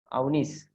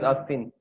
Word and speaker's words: Avnis: It is not Asin, it is Avnis, correct? Avnis, yes, Avnis. Okay, sorry Avnis, I used to I was pronouncing you as Asin.